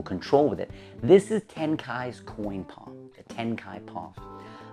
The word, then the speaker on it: Tenkai: mentioned the name of the brilliant magician Tenkai before on this channel, and it is spelled T-E-N-K-A-I, Tenkai.